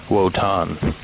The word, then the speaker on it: Wotan: Because it looks like a D, you can pronounce it as Woden, and sometimes I just use the High German Wotan.